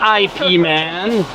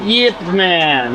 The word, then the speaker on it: Yip Man: And also this is the proof that Yip Man spelled his name with a fucking Y, all right? Not IP Man, but Yip Man, all right?